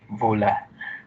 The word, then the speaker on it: Wöhler: And yun, it was put into trial na test siya due to Friedrich Wöhler. Kasi, tama ba pag-pronounce ko? W kasi is V. O is U.